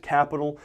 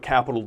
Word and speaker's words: Qapital: And the third and final one I'm going to mention here is an app called Qapital, but it's capital spelled with a Q.